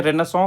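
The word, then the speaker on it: Renaissance: जो यूरोप है ये पूरा यूरोप में एक पीरियड आया जिसे बोलते हैं रेनसो का पीरियड। रेनसो। स्पेलिंग कुछ और होता है, प्रोनंसिएशन कुछ और होता है।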